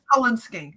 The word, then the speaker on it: Cullen skink: It's like the Twilight last name, colon. C-U-L-L-E. right. Yeah. Yes. Cullen skink.